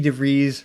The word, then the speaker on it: DeVries: Yeah, along with the great Vicky DeVries, rhymes with cheese, we spearheaded a campaign to get Weird Al Yankovic a star on the Hollywood Walk of Fame.